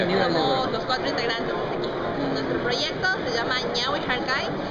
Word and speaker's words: Ñawy Harkay: Nuestro proyecto se llama Ñawi Harkai, o Ñawi Harkai como quieran pronunciarlo, los que lo pueden con Ñ.